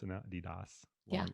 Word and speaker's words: Adidas: Is that how we pronounce it now? Adidas.